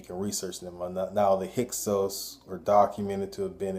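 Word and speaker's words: Hyksos: on youtube it's related to the hixos uh which is spelled h-y-k-s-o-s and it shows a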